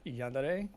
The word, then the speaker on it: Yandere: It is pronounced Yandere because he is a Yandere. Yandere. Yes, it is Japanese.